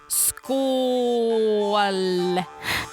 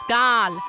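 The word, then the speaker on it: skål: kinds of different celebrations it's pronounced skool and not skal as many pagans say look i know it's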